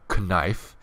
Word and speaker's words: knife: I'm gonna go ahead and hit the K hotkey, K for knife. Yes, I know knife has a silent K in it, but it does have a K in it.